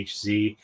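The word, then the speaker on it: Aahz: one of the main characters named Oz as in a ahz and I pronounce it more like as in Wizard of um but uh yeah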